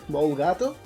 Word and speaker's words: molegato: at school, by then I just pronounce it molegato, which I still pronounce it like that from time to time, but when talking in English I just go for the more correct molegato.